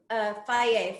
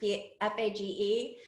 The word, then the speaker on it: Fage: your, box of cereal or whatever it is, Faye frozen yogurt, Fage. They have to explain the pronunciation on the back of the yogurt container,